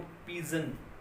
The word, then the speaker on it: pigeon: देखो पिजन, PIGEON, पिजन।